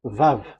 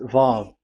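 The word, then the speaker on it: וו: Vav. So it's V as in Vogue. So it's really V. How to read Vogue? So the word, the shape Vav is really pronounced V, like Vogue.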